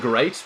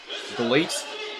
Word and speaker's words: GLEAT: I believe it's actually pronounced great, but because it's Japan and because it's Lidet, it's GLEAT. And, you know, it's just weird, but I'm just going to keep calling it GLEAT all day, every day.